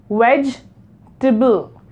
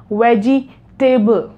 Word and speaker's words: vegetable: E in the middle we are not gonna pronounce it so we're gonna divide it into two syllables the first one is wedge and the second is table wedge table right do not pronounce it like wedgie table or wedge table whites